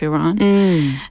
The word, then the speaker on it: Iran: Iran, yeah.